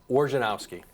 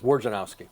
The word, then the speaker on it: Wojnarowski: Wojnarowski. Okay, you say it different we spelled it out phonetically for the kids. We sent them to school with phonetic spellings through the years. Wojnarowski.